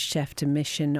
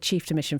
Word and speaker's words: chef de mission: I said chief de mission first of all, and I was like, no, I must get it right, and then I got it wrong again.